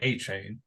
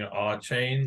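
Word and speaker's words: Achane: his last name uh it's Stefan a chain yeah it's just like saying a chain like guys that just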